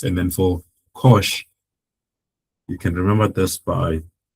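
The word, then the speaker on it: cosh: And then for kosh like I've been saying we pronounce that as kosh right and um the identities from the from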